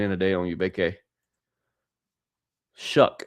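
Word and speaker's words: Shough: Shuck is how you say the last name. Tyler Shuck for the New Orleans Saints quarterback. I've been calling him Tyler So.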